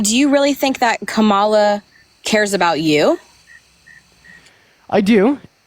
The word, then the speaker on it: Kamala: Her name is pronounced Kamala Harris, not Kamala or Kamala or Kamala or anything else that y'all like to say.